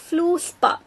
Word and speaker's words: fluorspar: Okay, fluorspar. Actually pronunciation பாத்தீங்கன்னா இந்த ஆரு சைலண்ட், இந்த ஆரு சைலண்ட் இங்க.